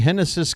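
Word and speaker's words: Génesis: moment I'm assuming the Lefty henis Cabrera spelled like genesis pronounced like henis that should be the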